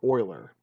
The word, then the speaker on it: Euler: being deafness still writing symphonies remembering that it's pronounced Euler right alright so and you can you can